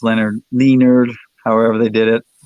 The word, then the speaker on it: Lynyrd: Lynyrd Skynyrd album pronounced Tejas gotcha instead of pronounced Leonard lienarde however they did it I've got that